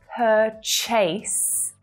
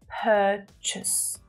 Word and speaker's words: purchase: So here, the correct pronunciation is purchase, purchase. Can you hear that weaker syllable in the second syllable? Chus, chus. We use that schwa vowel sound.